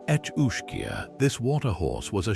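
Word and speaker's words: each-uisge: its freshwater logs, the each uish pronounced etchia, this water horse was a shape-shifting predator of unparalleled cunning and malevolence.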